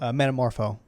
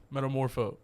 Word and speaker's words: Metamorpho: What's what how do you pronounce it? Meta metamorpho metamorpho when he's all like can you make the